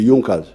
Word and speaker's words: Junker: group in prussia called yunkas they are written as junkers but they are pronounced as the yonkers these were big producers